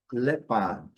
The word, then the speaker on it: leopard: Aqui o animal lepard lembrando letra R no inglês britânico, não é pronunciado. Então le forte. E no inglês americano, leard. Lepard.